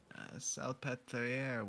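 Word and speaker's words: Salpêtrière: Salpetriere was founded in the 17th century as a a hospice for the elderly, infirm, and insane women.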